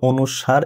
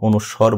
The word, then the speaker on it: অনুস্বার: এইটা বলতে হবে অনুসার। এটা কখনো অনুস্বর বলা যাবে না।